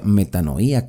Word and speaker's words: metanoia: ya saben ustedes que la palabra arrepentimiento en griego se pronuncia metanoia cambio de mentalidad arrepentidos